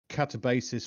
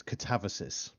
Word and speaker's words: Catabasis: Yes, we've been calling him Catabasis for the longest time, but apparently it's pronounced differently. It's Catavasis.